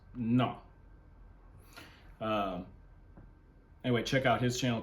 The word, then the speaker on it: Ngo: It's Vietnamese. NGO. It says it's pronounced Na.